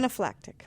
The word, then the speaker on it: anaphylactic: Anaphylactic.